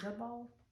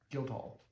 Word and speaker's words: Guildhall: How do you say guild ball? Guildhall. Guild hall. It's a hall, not ball.